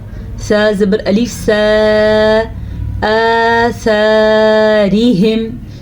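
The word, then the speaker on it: آثارهم: زبر الف سا، آثارہم، را کو باریک پڑھنا ہے کیونکہ را کے نیچے زیر ہے۔ ہا کے تلفظ کا دھیان رکھنا ہے، اکثر لوگ اس کو پڑھتے ہیں ہم، نہیں یہ ہے ہم، سینے سے اس کی آواز نکلتی ہے اس ہا کی، حلق کا آخری حصہ اور سینے کے ساتھ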